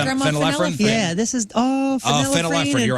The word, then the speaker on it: phenylephrine: Yeah, this is phenylephrine, phenylephrine, you're right, and you're right, Imogene.